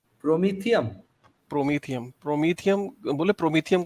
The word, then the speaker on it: Prometheum: मैं तो नाम भी नहीं प्रोनाउंस कर सकता, प्रोमिथस, क्या नाम बताया आपने? प्रोमीथियम।